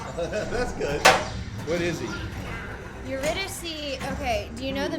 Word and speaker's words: Eurydice: It's from Greek mythology, and Yeah. it's Eurydice. Oh my God. Only That's one seek Eurydice? jackpot. That's good. What is he? Eurydice, okay, do you know